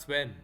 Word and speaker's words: Sven: How am I to refer to you? Just Sven. Sven. Okay. Sven.